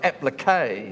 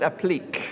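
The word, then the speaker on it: appliqué: You can tell I don't do this, but it's absolutely pronounced applique. But down in Invercargill, where I was born, we used to call it applique.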